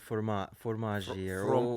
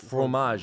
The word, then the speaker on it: fromage: Charcuterie and fromage. Fromage is how you say it. I don't have the accent, but yes.